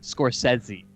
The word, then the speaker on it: Scorsese: Scorsese? You have to say Scorsese.